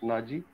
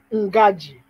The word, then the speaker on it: Ngaji: So Colonel Naji, I don't know, you may have become a general, but looking at your name, Naji, you pronounce Naji? Ngaji. Ngaji. Ngaji, yeah.